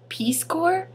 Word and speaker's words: Peace Corps: And she went, you mean Peace Corps? And I go, yeah, but also, what? There's a P at the end. Why would you pronounce Peace Corps and not Peace Corp?